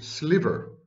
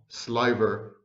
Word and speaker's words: sliver: thing a thin slice in modern accepted pronunciation is sliver not sliver as i had mispronounced